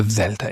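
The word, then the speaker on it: δέλτα: This and that is exactly the sound that the delta is making.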